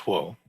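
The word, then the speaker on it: 火: It's a character for fire. It's pronounced huo.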